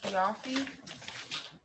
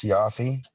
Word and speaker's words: Siafi: Okay, and is it Kiafi? Yes, ma'am. For the record, it's pronounced Siafi.